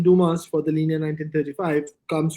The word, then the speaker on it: Dumas: so hence in the Dumas in L 1935 yeah Duma is they tend not to pronounce the S but I don't know